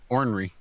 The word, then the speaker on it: ornery: she call you or ornery o-r-n-r-e-y ornery ornery henry i don't usually pronounce that first r when i say it he's an ordinary cuss